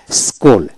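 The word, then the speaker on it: school: এইভাবে যেমন এস সি H double L স্কুল, অর্থাৎ এস H double L স্কুল, সি উচ্চারণ হবে না।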